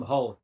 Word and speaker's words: Hull: Yeah, Hull, Hull. That's my hometown. Yeah, but you don't say Hull. Everyone calls it Hull because it's that kind of place. So nobody pronounces the H.